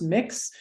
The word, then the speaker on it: Mx: also points out that MX pronounced mix is the gender neutral version of Ms or Mr which is becoming more